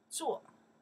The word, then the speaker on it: 坐: Okay, this is easy to pronounce, right? 坐, because we already learned another character pronounced 坐, right? 坐, yeah, to do, right? This was not to travel by. To travel by, we pronounce 坐, different character. Pronounce the same.